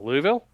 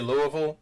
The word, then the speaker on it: Louisville: here's the thing bulk when you say louisville you've got an eye in it and i know it's in the word but we don't pronounce it hey man i'm i'm